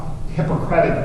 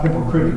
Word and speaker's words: Hippocratic: And most people think that this is part of the Hippocratic oath, not hypocritic oath. They're so close, you got to watch how you say it.